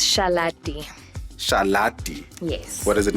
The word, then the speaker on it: Shalate: So it's Shalate.